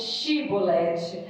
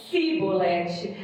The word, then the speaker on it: Shibolete: E dizendo ele não, então lhe dizia: dize, pois, Shibolete. Porém ele dizia Sibolete, porque não o podia pronunciar bem.